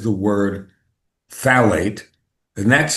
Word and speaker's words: phthalate: Well, that's salt, but anything that says the word phthalate, and that's spelled PHTH. It's one of those crazy words, a phthalate, if you want Yeah. it, but it's phthalate, PHTHALATE.